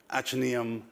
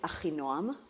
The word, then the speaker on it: Achinoam: I've completely mispronounced that, haven't I? That's right. Which is why you call yourself Noah. So correct me, how do I... This is going to be a nice way to start our session, right? My name is Achinoam.